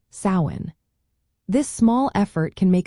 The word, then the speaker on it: Samhain: So the next time you mention sin, remember to pronounce it as sain.